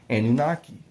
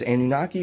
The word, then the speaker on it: Anunnaki: For Anunnaki, Anunnaki. You can either say it as Anunnaki or Anunnaki, same word.